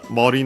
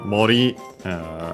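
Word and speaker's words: 森: But yeah, Mori, Forest, unaccented.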